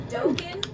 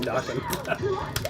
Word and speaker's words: Dokken: Dokken, yeah, that's how you say it. Dokken, really? I always thought it was Dokken.